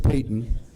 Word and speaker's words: Payton: Richard freshman George Payton it sounds like it's spelled like Patton but George Payton George Payton was on